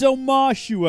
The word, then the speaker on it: Omashu: was spelling it wrong oh ma shoo it's Omashu everyone yeah he's 812 years old for